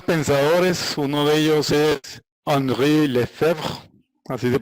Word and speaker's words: Henri Lefebvre: Uno de ellos es Henri Lefebvre, así se pronuncia. Sí, para más facilidad, Henri Lefebvre.